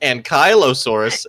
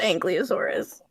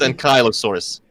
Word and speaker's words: ankylosaurus: angelosaurus okay first of all um Lady it's pronounced ankylosaurus and I'm pretty sure it's angelosaurus you need to get your no it's ankylosaurus right right right right right right actually I